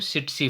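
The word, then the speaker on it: tsetse: एंड इसमें ये flee जो है वो सिट्सी फ्लाई है, ठीक है, टी साइलेंट रहता है, सिट्सी फ्लाई।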